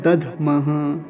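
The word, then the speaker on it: दध्मः: अंतिम शब्द है दधमह, दधमह, धकार आधा है तो जल्दी से उच्चारण होगा, दधमह, दधमह, ऐसा।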